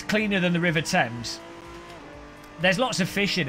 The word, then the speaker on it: Thames: You pronounce it Thames, not Thames.